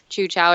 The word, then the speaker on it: Teochew: Chu-Chao, it's otherwise known as Teochew, which is spelled Teo-Chehew.